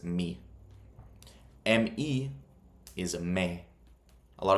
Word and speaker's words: mi: So M-I isn't my, it's me. M-E is me. A lot of people, they'll say me gusta. That you sound like a pure gringo if you say that. It's me gusta.